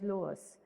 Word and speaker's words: loess: Okay, this is pronounced as loess.